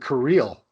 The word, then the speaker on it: Kirill: I believe we pronounce it Kirill. That's how they were saying it there.